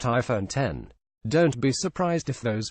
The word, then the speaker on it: iPhone X: It's the iPhone X, pronounced iPhone 10.